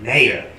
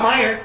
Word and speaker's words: Mayer: ER is John Mayer that's how you say it mayor not Meyer that's one of those